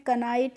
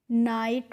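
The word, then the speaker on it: knight: तो यहां पे भी हमें कनाइट करके नहीं पढ़ना है। इसको हमें क्या पढ़ना है? नाइट पढ़ना है।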